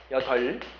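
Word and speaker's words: 여덟: 여덥이에요 여덜이에요? 여덜이라고 읽는 게 맞습니다. 여덜.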